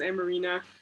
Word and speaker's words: Amarina: can ask the question said my name right my name is amarina um i just wanted